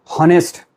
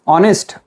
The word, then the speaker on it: honest: Most of the students get confused and say honest. Remember, in this word H is silent. Therefore, it is not pronounced as honest. It is honest.